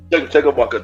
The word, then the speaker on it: Chumbawamba: I'm gonna need a little help with this pronouncing. So the group is called Chumbawamba. Chumbawamba, there you go, yeah.